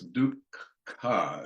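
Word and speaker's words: dukkha: against each other, because the first syllable is D-U-K and the second syllable is K-H-A. So it's duk-ka, and there's always this k-ka in the middle of it.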